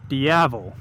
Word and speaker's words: Diavel: to mind it's Italian rhymes with devil or means devil looks pretty damn good it's sexy and that would be the Ducati Diavel yes the devil himself